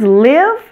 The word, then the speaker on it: live: system mystery and myth the words live and give are pronounced with a short I sound but they don't follow